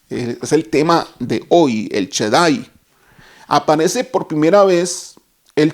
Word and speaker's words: El Shaddai: Y ese Dios todopoderoso, la palabra Dios todopoderoso, tiene un nombre o una que significa o se pronuncia el Shaddai.